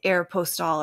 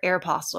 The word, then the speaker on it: Aeropostale: and we went to air postal or Aeropostale or however you say it and you've never heard anybody say Aeropostale I think that's the correct way to say it but we all said Aeropostale Aeropostale yeah and